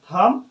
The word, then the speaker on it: thumb: आ जाए, ठीक है, एम के साथ आता है तो बी का होता है साइलेंट हो जाता है। जैसे में कॉम, टूम, वूम, थम और लिम।